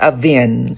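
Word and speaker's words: Avène: It's called Avin. Avin. Spell? Avin. Spell. It's spelled A-V-E-N-E. Avin. Okay.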